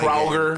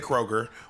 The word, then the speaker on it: Kroger: and the grocery stores in Georgia are not Kroger. I mean, and they're Publix. It's called Kroger. Kroger. No, in Georgia they say Kroger. Okay, I'm from Georgia. We say Kroger. We say Kroger.